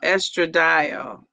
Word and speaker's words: estradiol: Uh Pronounced estradiol. It's pronounced like dial using the telephone. Estradiol. Okay. I was thinking that was a D-I. Oh, it's pronounced like D-I-A-L, but it was a D-I-O-L.